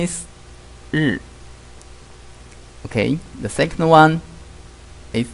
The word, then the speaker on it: 日: In Chinese, the pronunciation is 日.